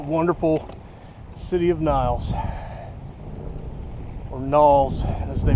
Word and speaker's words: Niles: All right, the wonderful city of Niles, or Knowles as they pronounce it around here.